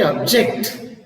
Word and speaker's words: object: so that is object but when you say object See the s is on the second Sy object immediately when you